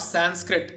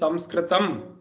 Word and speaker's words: Samskritam: That it is, for example, when you are pronouncing the word Samskritam, and let me warn you, it is not Sanskrit as many people have understood it as, or they have been calling it, even if they have known it, it is Samskritam.